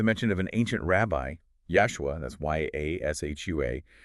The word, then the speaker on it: Yashua: And it gets even more specific with the mention of an ancient rabbi, Yashua, that's Y-A-S-H-U-A, pronounced like Joshua, only with a Y sound at the start cited in the Gemara.